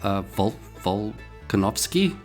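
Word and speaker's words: Volkanovski: Alex Volkanovsky. Yeah, that's how you say it.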